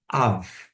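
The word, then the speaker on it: אב: você vai observar que pai no hebraico é av, começa com alif. O alif não é mudo, mas ele vai pegar o som de um sinal massorético que vai indicar a vocalização da vogal.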